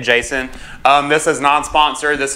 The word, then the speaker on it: Jasion: you know so yeah this right here is the Jason ebike I'm pretty sure that's how you say it Jason um this is non-sponsored